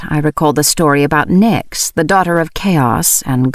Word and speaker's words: Nyx: "Nyx?" I said aloud, and I could have sworn the kitten gave a nod of approval. I pronounced her name to rhyme with tricks, as she seemed like a tiny trickster.